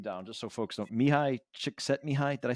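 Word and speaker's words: Mihaly Csikszentmihalyi: Mihai Csikszentmihalyi.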